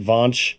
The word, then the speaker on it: Vaush: What is it, Vaush?